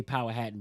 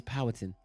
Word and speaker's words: Powhatan: So it's Powhatan, I think I say Powhatan, but it's I think somebody corrected me. Sound right. No, somebody corrected me that lived there and was like, no, it's Powhatan. So I said it wrong. But anyway, had the Duck Donuts there.